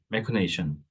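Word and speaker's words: machination: 스펠 자체가 틀리고 발음도 틀립니다. 비슷해가지고 헷갈리시는데 그 MA, CIJ, NAT, 메커네이션.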